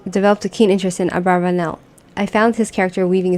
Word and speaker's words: Abravanel: as some of Abel's abravanel's biblical commentary in the Hebrew in the original Hebrew I knew Abravanel as abarbanel the commonly accepted pronunciation of the name in the Jewish community at first as a